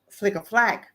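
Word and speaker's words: Flic en Flac: If I go to Flicker Flack, which is called, it's so it's funny way it's spelled and it's called Flicker Flack, right?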